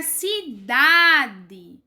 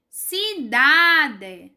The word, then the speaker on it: cidade: Na palavra cidade, cidade, cidade. Quando a gente fala cidade, a coisa mais forte que sai é cidade, ó.